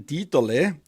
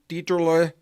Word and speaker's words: Dieterle: My guest today is Jordan Dieterle, pronounced in German, or Jordan Dieterle.